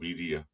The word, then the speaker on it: birria: Yeah, that's how they pronounce it. It's called birria.